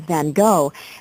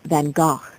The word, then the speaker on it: Van Gogh: Although most people refer to him as Van Gogh, the true pronunciation of his name is Van Gogh.